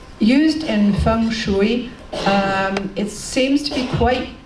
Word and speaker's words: feng shui: Folk tales, such as the one I mentioned earlier, personal horoscopes, as I said earlier, feng shui.